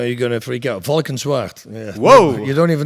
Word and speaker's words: Valkenswaard: Valkenswaard. Yeah. Whoa. You don't even know how to pronounce it. How you spell that? Valkenswaard.